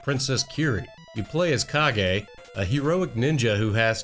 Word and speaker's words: Kage: taking a look back at the legend of cage for the nintendo entertainment system actually it's pronounced legend of kage this is a port of an arcade game that was released by tato in 1985.